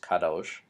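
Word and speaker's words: קדוש: holy the adjective holy which meat which is pronounced Kadosh again meets holy so when the sarofim in Isaiah 6 are flying around the temple in Isaiah's call vision they are screaming Kadosh Kadosh Kadosh so holy holy holy is the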